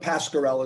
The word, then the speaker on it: Pascarella: Very similar name, but Pascarella is the way. Pascarella, how you pronounce it.